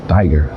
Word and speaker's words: Tiger: um tigre tanque tigre Tiger Tiger como diriam os alemães não importa a pronúncia o tigre é um